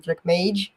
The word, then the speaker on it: TrackMage: So it's mage, like major, track mage.